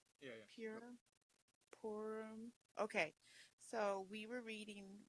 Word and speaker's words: Purim: off of what I read, but Oh, you pronounce it Purim, not pure? Yeah. Pure? Purim.